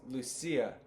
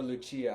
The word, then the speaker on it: Lucia: the Niwok where um I believe it was Lucia or Luchia, however you want to pronounce it.